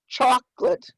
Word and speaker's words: chocolate: in blue canoe okay there's a dialect difference between number of syllables as well yeah so i have two syllables chocolate how many of you